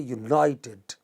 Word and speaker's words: united: beginning not the initial you don't say united neither do you say united you know we see united that is the second syllable from the beginning similarly you know